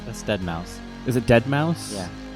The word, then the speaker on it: deadmau5: this one is I'll even know how to pronounce the name ass DeadMau is a dead mouse it's dead mau5 deadmau5 you see [ __